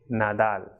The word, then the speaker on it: Nadal: D is pronounced as they, like that or that of English. So, example, dinero, Nadal. So it will not be pronounced as doll of English, but it will be pronounced of a soft D, that is the, that of English. So dinero y Nadal.